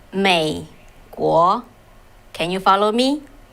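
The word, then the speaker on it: 美国: So in Chinese, it's said, how to pronounce it, called 美国. Can you follow me? 美国.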